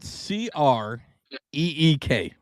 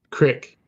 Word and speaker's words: creek: how about CREEK? Crick. Bitch, it's a creek. It's a creek, but it's all right. Hey, there you go. See, No. See. Listen, Mama, Brock, Mama B Rock knows how to say it. she does. I threw that one sideways at you because I do say creek.